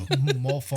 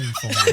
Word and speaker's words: mofongo: Mofongo. It's mofongo, not monfongo.